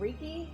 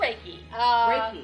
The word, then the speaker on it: reiki: healing as well oh is that like a reeky okay i do reiki yes okay i never know how to pronounce it uh yes yes